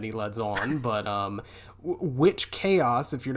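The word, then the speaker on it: Wych: From what I could gather from the internet, witch is how you pronounce his first name.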